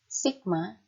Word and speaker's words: sigma: seperti berikut ini yaitu Sigma ya Jadi ini dia tadi bacanya Sigma Sigma Bentuknya itu seperti